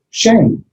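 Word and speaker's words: שם: The Hebrew word for name is shame. Shame, yeah. You don't need to remember it. It's the Shabbat with the Sere underneath it. But yeah, like S-H-A-M-E is how we pronounce it with the final N.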